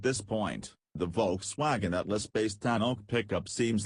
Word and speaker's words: Tanoak: Pacific region, and it is pronounced “tan oak,” like the tree.